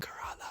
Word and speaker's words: Khairallah: Karala, or Khairallah, whichever way you would like to pronounce it. There's the Arab way and then there's the English way. But oh my god, my last name is so hard to say in English, Karala, because you guys can't say the anyway.